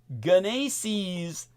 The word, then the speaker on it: GENASYS: Search for evacuation zones and road closures through the Genesis or Genesis product or protect program. Genesis is spelled GENASYS, and I will put